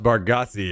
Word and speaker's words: Bargatze: It's pronounced Bargatze, yeah.